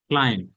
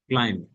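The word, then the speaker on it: climb: ক্লিক, ক্লাইম, বি উচ্চারণ হবে না, ক্লাইম, আরোহণ করা, উপরে ওঠা, গাছের উপরে ওঠা, পাহাড়ে ওঠা।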